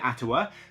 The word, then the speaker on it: Atiwa: I'm calling it Ottawa I'm pronouncing it atawa because I Googled how to pronounce it and that is what it came out with so if that is not the correct way to pronounce it then blame Google not me but this is